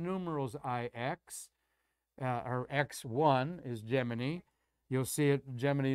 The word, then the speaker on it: Gemini: i've copied that says nasa is officially saying the proper pronunciation of their two-man program was gemini after jiminy like jiminy cricket and you probably got